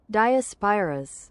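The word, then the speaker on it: Diospyros: How do you pronounce this? The is it diosperus? Is it theosperus? Diaspirus. Diospyrus.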